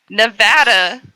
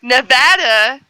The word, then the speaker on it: Nevada: Nevada, right? Nevada. Nevada. We have a town, Nevada. That's how it's said here.